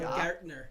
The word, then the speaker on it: Baumgardner: You're going to say it wrong, and then we're going to have To my left, Wes Baumgardner. Can I say it properly? Baumgartner.